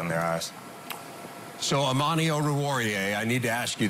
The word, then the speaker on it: Oruwariye: I've heard someone legitimately say Oreo. And I was just like, that doesn't even look remotely close. Doesn't even sound right.